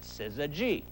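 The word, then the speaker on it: syzygy: mispronounce this word again simply think of that lowfat bacon called szene cut the lean part off substitute the letter G and instead of sizzlean you now have Siz G simple right now SII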